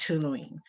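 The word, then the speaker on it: toluene: kind of a it's spelled t-o-l-u-e-n-e and it's pronounced tuluene this chemical can cause headaches and mental impairment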